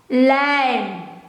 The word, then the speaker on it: lijm: Glue, in Dutch, lijm.